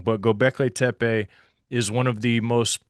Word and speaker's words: Göbekli Tepe: You said it right. Gobekli Tepe.